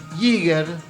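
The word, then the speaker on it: Jaeger: a compartir hoy que se llama werner virgen yeager se escribe yaeger con jota fire fire después lo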